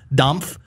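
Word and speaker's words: Dampf: of damp good barbecue i'm saying it weird because that's the way his name is spelled it's d-a-m-p-f domf born in st louis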